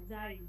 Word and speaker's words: sein: bekannter Tennisspieler zu sein আপু এটা জয়ের মতো উচ্চারণ হবে, যাইন, জি sein am ভোকেনেন্ডে, ভোকেনেন্ডে,